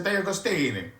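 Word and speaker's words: De Agostini: It's a Diagostini. Diagostini.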